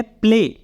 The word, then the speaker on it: play: Means इसको हम ऐसे भी कह सकते हैं कि वाई का साउंड जो है वो साइलेंट हो जाता है। जैसे कि एग्जाम्पल है, जैसे कि यहाँ पे है प्ले, PLAY, लास्ट में वाई